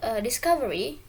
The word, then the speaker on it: discovery: For the word discovery, it's because stress is usually on the second to last syllable for words ending in Y.